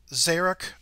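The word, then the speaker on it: Czyruk: a guy named Jeff Zarek. Hopefully I'm saying his name right, but it's spelled C-Z-Y-R-U-K.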